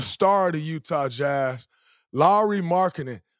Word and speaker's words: Lauri: of the Utah Jazz Lowry marketing for y'all that don't know how to pronounce his name I just got the tutorial Mike Lowry just like the bad boys Larry marketing what's up